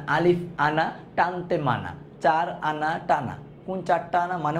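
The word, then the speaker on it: أَنَا: আপনার কারো কোশ্চেন আসে জবরের উপর খালি আলিফ তাও টানলাম না এটা হচ্ছে আনা পড়ার একটা নিয়ম আছে আনা আলিফ আনা টানতে মানা চার আনা টানা কোন চারটা আনা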